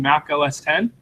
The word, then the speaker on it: Mac OS X: machine are you running Mac OS 10 not pronounced X if I so it's